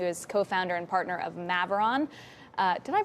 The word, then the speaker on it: Maveron: We are also joined on set by Dan Levitan, who is co-founder and partner of Maveron. Did I pronounce that right? Correct, Maveron.